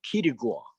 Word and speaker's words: Kitigua: It's Kitigua. Kitigua. Key to the islands.